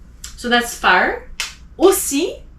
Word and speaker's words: aussi: Aussi, OU is O.